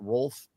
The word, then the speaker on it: Ralph: I think he pronounced it Rolf or something, but there is no silent W. Can we stop that? But no, Ralph.